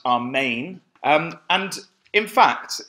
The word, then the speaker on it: Amen: question so be it it's a word lifted isn't it straight out of the Hebrew Anna tells me it's pronounced our main and in fact it's